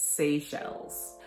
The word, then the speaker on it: Seychelles: and i would not have known how to pronounce it it's seychelles so there are four shades of this cream